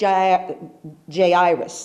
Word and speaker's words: Jairus: And he's one of the leaders of the synagogue, came to him, and his name was Jairus. That's how you say it. Jairus came.